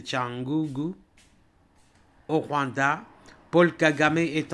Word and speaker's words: Cyangugu: oui alerte alerte à tchangugu on écrit tiangugu mais on prononce c'est tangugu au Rwanda Paul kagam